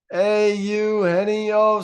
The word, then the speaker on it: Eugenio: by Rick rizz um it was like Hey You hennio Suarez nice I love the name too because it doesn't look like how it's spelled and then they call